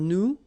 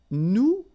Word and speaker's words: nous: if you remember correctly, so final S is not pronounced here. Okay, and then this O-N, so it's a nasal and it goes in your nose and it goes like on.